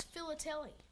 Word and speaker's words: philately: What's philately? That's stamp collecting, except you say it like this. Philately. Phil. Lat. Lee.